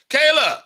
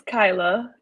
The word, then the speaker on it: Kyla: So, Kayla, welcome. How are you? It's Kyla, and I'm sorry, great. I just butchered your name. Kyla, it's definitely Kyla phonetically.